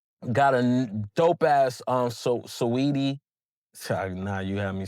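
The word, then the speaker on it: Saweetie: I I mean no I think it is sweetie but I just the way it's spelled I always put emphasis on the sedi.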